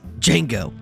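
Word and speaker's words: Django: the next film is jeno Unchained d j a n g o the D is silent I know Tarantino's first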